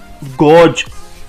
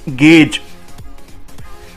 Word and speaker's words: gauge: So it's not gauge, it's gauge, and it is pronounced as GEIJ.